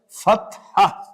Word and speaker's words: Fatha: This is called Fathatun and it will be read as Fatha.